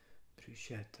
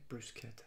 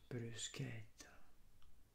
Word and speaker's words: bruschetta: There's pepperoni, Italian sausage, and Italian sausage and bruschetta. I should say bruschetta. I'm sorry. Remember, the Italian is bruschetta.